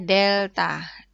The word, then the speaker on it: delta: Ini maksudnya itu bukan bacanya segitiga Y dibagi segitiga X, bukan. Ini bacanya delta.